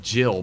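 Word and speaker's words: Evergaol: Yeah, I know it's pronounced Jill, but then why is it written Gaul? No, it's Weeping Evergaul. I declare it to be that way. If they wanted it to pronounce Jill, they should have written it as Jill.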